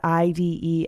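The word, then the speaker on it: -ide: that last syllable with the IDE ending, pronounced "ide."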